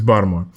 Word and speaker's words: Baltimore: by the way it's baltimore um according to his bomb sources yeah bottle you can't if you if you pronounce the t in baltimore you're wrong um and i'm like